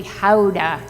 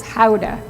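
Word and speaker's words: Gouda: pronounce this cheese wrong it's really Howa that's the proper pronunciation if you're in Holland it's Howa but of course excuse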